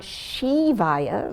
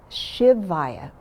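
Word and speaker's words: शिवाय: the land of liberation so it's not shivaya like it's a female it's shivaya and the ship is also short like in ship and then the va va is longer so there's a rhythm to it short long short shivaya the v in shavaya is not a hard v it's almost like a w it's kind of in between a v and a w like you get in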